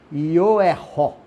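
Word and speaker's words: יריחו: mais ou menos assim, Ioeró, Ioeró, Ioeró. Essa seria a pronúncia se você fosse falar Jericó em hebraico.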